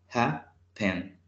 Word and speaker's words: happen: Este verbo tiene dos sílabas, happen. Y el acento lo tiene al inicio.